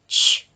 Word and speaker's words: witch: it's the CH diagraph at the end which witch so that's the witch is a magical lady